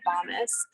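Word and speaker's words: Bomis: they made a company called bombis it rhymes with promise and it was a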